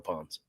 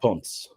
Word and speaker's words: Ponce: in college than Tamale Ponds. You got to respect that. Ponce. I should start saying it right. It's Ponce. It's more of a Ponce kind of pronunciation.